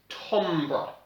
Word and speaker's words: timbre: So, the word for that is timbre. It's spelled T-I-M-B-R-E.